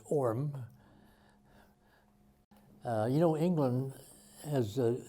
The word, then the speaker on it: Horham: The little town closest by was called Horham, H-O-R-A-M, although in England they don't pronounce the H's, it's Orm.